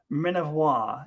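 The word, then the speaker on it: Minervois: I knew it, and I know the VOIS is Wah, but I couldn't quite get it.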